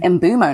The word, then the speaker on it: Mbeumo: And Brian Mbuemo said his name is pronounced Brian Mbumo.